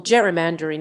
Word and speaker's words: gerrymandering: Though Gerry's name was pronounced with a hard G, like Dury, his namesake redistricting method is pronounced with a soft G, like Gerry. Read more. Is political gerrymandering illegal?